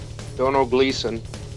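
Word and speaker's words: Domhnall Gleeson: who played general Hux in the force awakens don't know Gleason that is correct and that was even spoke right pronunciation Brian David's would proud of ya number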